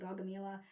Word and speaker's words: Gaugamela: Okay, so I wanted to have an idea why this episode was titled Gaugamela.